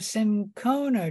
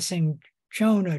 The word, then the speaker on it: cinchona: the bark of the cinchona tree, or the cinchona tree, depending on how you pronounce it. Both pronunciations are correct.